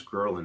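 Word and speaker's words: ghrelin: yeah through um some I still don't know how to pronounce gin is how I call it it's a weird g h re l i n but that's what makes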